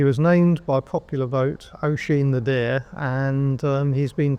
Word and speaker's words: Oisin: We've communicated over Twitter in the past, I think, but not directly with you as, how do I pronounce it? Oisin. Oisin. Oisin the deer, yes. It's Irish.